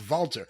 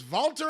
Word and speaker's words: Walter: it has to be although I believe it's pronounced vaulter his real name is vaulter hyung oh [ __